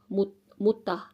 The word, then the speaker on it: mutta: mutta mutta muuta muuttaa First one, mut- mutta. It's mud. muttaa A, mutta mud.